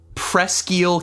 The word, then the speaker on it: Presque Isle: So the county seat of this county is indeed pronounced Presque Isle. However, But the county itself? However, the county is pronounced Presqu'Isle County. Presqu'Isle.